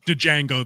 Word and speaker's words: Django: tried to Leonardo DiCaprio Django that but the D was silent I couldn't do it sorry yeah the D is silent Django J I